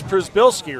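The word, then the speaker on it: Przybylski: and I walked up to I go it's Prisbilski, right?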